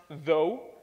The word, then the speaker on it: though: that this is pronounced though, and that this is pronounced thought, and that even though they look almost identical, they have nothing to do with one another.